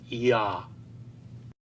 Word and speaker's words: Yah: letters Yud and He, which are found much later in the Masoretic texts as Yah, should in fact be pronounced as Yah.